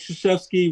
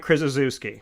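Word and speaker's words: Krzyzewski: the top of the Heap the next Mike shashy Roy Williams of college basketball coach hle you said it wrong it's it's Mike krisi thank you yeah that's how some people pronounce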